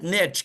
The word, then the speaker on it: niche: I don't know if it's niche or niche. I like niche because it rhymes with rich, right?